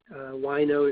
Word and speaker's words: Wineaux: Wino is spelled Wineaux.